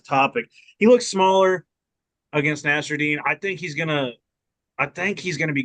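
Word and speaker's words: Nassourdine: I'm just gonna say fucking Nasruddin, which also forever on Shirt Dog they had it wrong and said it was Nasserine. It's Nasruddin.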